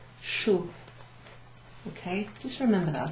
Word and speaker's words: chou: What does CH together sound like? Remember my name? Ooh. Chou.